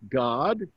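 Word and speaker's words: Gad: That's pronounced God. There's a son of Jacob named God. G-A-D. Remember that A is not like in English. It's an ah sound.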